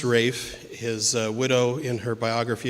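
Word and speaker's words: Ralph: all by rayfon Williams and yes it is pronounced Rafe his Widow in her biography of him said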